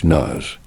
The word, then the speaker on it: Kronos: Say it like Kronos.